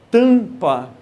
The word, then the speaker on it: tampa: Você vai visualizar o seguinte, sempre que a letra M aparecer ao final de sílaba, M no final de sílaba, ele não tem um som próprio. Ele tão simplesmente vai nasalizar a vogal anterior. Tanto que, pronuncie essa palavra sem a letra M. Como é que seria? Uma coisa é com M, tampa. Outra coisa sem um M, tapa.